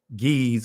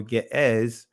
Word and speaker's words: Ge'ez: Ancient Ethiopian is pronounced Gaaz. Today they call it Ge'ez or Ge'ez, right?